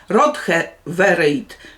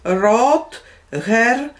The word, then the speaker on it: Rotherweird: od miasteczko robota cześć rothe wejde bardzo przepraszam czyta się rok her w środku bardzo się trudno czyta tę nazwę no bo i ona